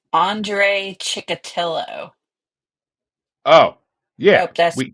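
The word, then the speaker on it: Andrei Chikatilo: I'll pronounce it. It's Andre Chikatilo.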